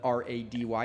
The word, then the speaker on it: Rady: So nobody was going to spell it R-A-D-Y.